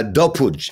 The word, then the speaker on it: Dopud: it's serbian originally or it's pronounced serbian so it's dope pudge uh puj is the right way to do we don't